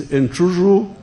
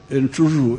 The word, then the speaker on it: Amblyomma: There is Amblyomma which Waguma was not pronouncing well. Amblyomma.